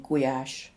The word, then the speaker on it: Gulyás: Notice there's no L sound in Gulyás. The ly is a single letter in Hungarian and is pronounced like a y.